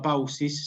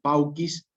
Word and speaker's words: paucis: Nunca perfícere, nunca silciter, nunca paucis, sino pauquis, kirkiter, perfíquere. Cuando vean la C, imagínense que se pronuncia ya con una K.